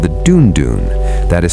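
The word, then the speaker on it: dùndún: The Yoraba have a special drum called the dunon that is spelled du n du n and it means sweet sound in the Yoraba language.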